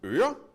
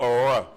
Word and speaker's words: øre: So I would like you to all say øre. No, not øre. No. Let's try again. Øre. Yes, much better.